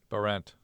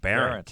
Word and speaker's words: Behrendt: See, I'm just going to cross out how it's spelled. I know. I should have changed it, man. B-A-R-E-N-T. Yeah, that's what I'm going to do. B-A-R-E-N-T.